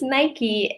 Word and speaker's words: Nike: I believe it's pronounced Nike. or maybe the same in Italian. I'm not sure. But in America, we call it Nike.